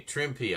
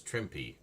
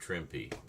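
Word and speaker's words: Trimpe: Okay, Trimpy. I was right on that. Everybody says Trimp, but actually you do pronounce the E in this case. So, it's Trimpy.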